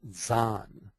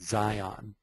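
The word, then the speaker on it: Dzyan: books is in the stanzas of Zan. Some pronounce it Zion.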